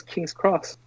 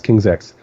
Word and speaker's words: King's X: I always thought it was King's Cross. I don't know why. No, it's King's X.